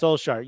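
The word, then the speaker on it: Solskjær: I could never pronounce it. Solskjaer. You got it. Solskjaer.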